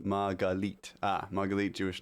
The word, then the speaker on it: Margalit: Margalit, is that if I'm pronouncing that right, is pronounced Margalite.